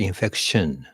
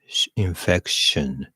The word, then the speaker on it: infection: 発音がね、pronunciation wise, I think a typical Japanese person would say infection But it's almost like infection. Infection. Almost like infection, as in soot. That's how we teach in our book.